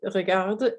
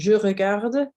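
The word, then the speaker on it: regardes: watching okay to regard it's pronounced exactly the same but we have an s on the end so if you've listened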